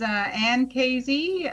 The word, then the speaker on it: Casey: My name is Ann Casey, rhymes with crazy.